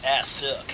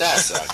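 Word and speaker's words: Assück: Yeah, of course you gotta pronounce it Assuck. It's got the umlauts. Well, in American English, it's Assuck. It's Assuck, of course.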